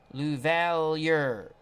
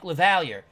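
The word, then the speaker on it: LaValliere: out his wonderful channel here is the pronunciation from baseball reference for the White Sox catcher Mike luvalier Mike lavallier oh my Lord we got lots of pronunciations but we'll go that way Mike lavalier the levalier I like a little better that's like the French Canadian thing lavalier thank you very much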